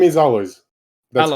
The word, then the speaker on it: Alojz: So in English, it should be Alois, for example, and then you should be able to pronounce it.